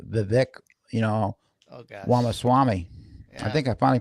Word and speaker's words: Ramaswamy: Ramaswamy. I Yeah. think I finally pronounced the last name right. Yes, I think you Yeah, have. yeah, Ramaswamy.